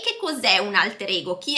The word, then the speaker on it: alter ego: Comunque sì, viene utilizzato in inglese, però la pronuncia è all'inglese, più alter ego, alter ego. In realtà la pronuncia originaria latina è alter ego.